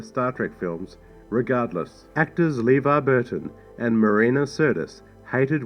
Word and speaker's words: LeVar: LeVar Burton's name was mispronounced by the director countless times, and the director was heard calling him Laverne a number of times.